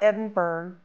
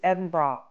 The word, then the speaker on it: Edinburgh: of the locals edin BR Scotland it's not edenburg it's not an iceberg it's not Edinboro it's not an area in New York City it's edin bra edra b r ah or like an undergarment